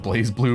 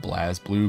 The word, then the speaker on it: BlazBlue: love blazblue and i know that it's technically pronounced blaze blue but i will pretty much always pronounce it blast blue because i don't know i'm an idiot